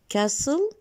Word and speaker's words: castle: We notice that castle, we have a silent letter here, T. We don't pronounce T in castle.